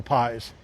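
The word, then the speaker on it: Pais: But Pies Deli, it's spelled P-A-I-S. P-A-I-S, Pies Deli.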